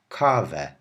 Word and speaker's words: kawę: Also be aware that the E with the tail, which I said says ow, whenever it's at the end of a word, you pronounce it like a normal E, as if it doesn't even have a tail at all. Like this. Kawę.